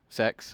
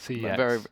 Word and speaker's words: CEX: But moving on, we are going on to Fish versus Sex, of course. CX. CX. Sorry, did I pronounce that wrong?